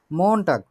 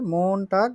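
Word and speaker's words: Montag: মন টাগ উচ্চারণ করি, মন টাগ মানে হচ্ছে সোমবার, সোমবার।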